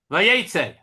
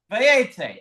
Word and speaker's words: Vayetzei: How do you pronounce it? Vayetzei. Vayetzei.